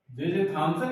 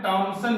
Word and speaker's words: Thomson: लेकिन सन 1897 ईस्वी में जे थॉमसन या इसको किसी किसी किताब में टॉमसन भी लिखा है, तो उसमें आपको कंफ्यूज नहीं होना है। टॉमसन या थॉमसन एक ही मतलब है, उच्चारण है अलग अलग।